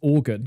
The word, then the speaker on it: Oregon: You could just pronounce this organ, couldn't you? Just skip a few letters. Orgon. Oh, like a poran. Or organs. Yeah, organs. Oh, I love that state. Organ. Oh, wait. No, that's No, I'm hearing it now. I'm hearing it now. You pronounce that like organ. Orgon.